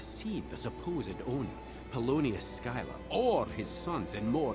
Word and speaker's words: Schuyler: Oh, it's pronounced Schuyler.